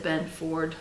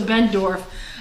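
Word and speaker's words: Benndorf: I think I said Ben Ford last time, so Bendorf.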